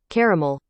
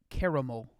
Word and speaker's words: caramel: so who's right well the primary difference between the united states and the united kingdom's pronunciation are car versus care emphasis whether you say mel or mole um no it doesn't